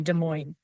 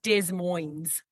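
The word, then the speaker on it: Des Moines: Well, he comes from Well, it's a French word. So, yes. And I know I'm not saying it very well. No, it's not Dez Moines.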